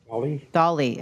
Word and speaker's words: Dahl: I'm not even sure I have the pronunciation of the candidate, Amy Dahl. Dolly.